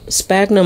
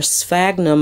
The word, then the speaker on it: sphagnum: of moss and the Spackman Spagna moss or sphagnum Moss some people pronounce it both ways that I got a